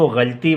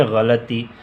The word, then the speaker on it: غلطی: درست تلفظ یہ ہے۔ غلطی، ہم اس کو غلطی بولتے ہیں، حالانکہ ہے غلطی۔ صبر، ہم اس کو